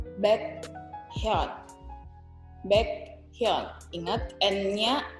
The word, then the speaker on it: Baekhyun: baekhyun.